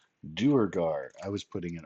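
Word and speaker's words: Durgar: Durugar.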